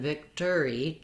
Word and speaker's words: victory: Just make sure that your Vic syllable is long and your tree or tree syllable at the end is short. It has a lax I vowel. And then we have, of course, the letters OR say more of an ER sound, or else that O just drops and we go right to tree.